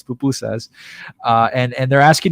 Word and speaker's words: pupusas: pupusas and they're asking by the way it's pupusas i've heard it pronounced many different ways recently uh but it's bupu says uh and and they're